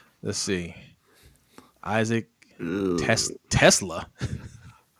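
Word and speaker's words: TeSlaa: Isaac Tesla. Tesla? Is it Teslay? Okay. Teslay. Okay. I don't know. That's how you say it.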